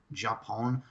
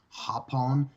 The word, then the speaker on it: Japón: So, and it looks like with Los Ingobernables de Japón, with the pronunciation, yes, it looks like Japón, but it's Hapon, and Suzuki Gun is actually Suzuki Goon.